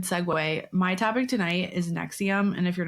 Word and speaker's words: NXIVM: it a million times it's Nexium Nexium Nexium like the heartburn pill I think different spelling